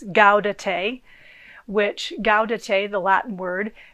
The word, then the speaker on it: Gaudete: And today is also, there's a special word which I had to remind myself how to pronounce. It's Gaudete, which Gaudete, the Latin word, means rejoice.